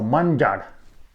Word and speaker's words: manjar: Now note here that the word for tired is manja plus an extra sound at the end. So manjar.